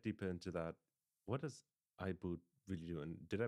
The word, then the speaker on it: iBood: Um before we get deeper into that, what does IBO really do? And did I pronounce it correctly? IBO. Yeah. Yeah. IBO.